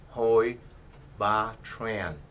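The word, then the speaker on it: Hoi Ba Tran: n as in Nancy it is pronounced ho B Tran and I revers my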